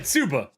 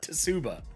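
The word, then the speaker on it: 鍔: Tsuba. The T is silent. It's not Tsuba.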